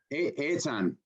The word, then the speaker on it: Eitan: Eitan is how he pronounces his name.